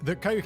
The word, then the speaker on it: Koch: K-O-C-H is pronounced Coke, right? Like Koch. Koch is pronounced Coke. Have I got that right?